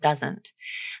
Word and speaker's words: doesn't: talk about, and that's the T in the word doesn't. Now, I don't hear a T sound here at all. I hear her dropping the T completely.